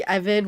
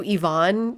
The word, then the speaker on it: Evan: And they were pronouncing like really simple names really incorrectly like like Evan would have been thank you Ivonne. I guess that's not the worst. or um like Charlotte was thank you charote and I feel